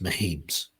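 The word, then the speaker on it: Mehems: inscription on this tomb reads mems which you know is the founding name of the current mayor and also one of the founding members of What's that name mems can you spell that m e h e m s as our view zooms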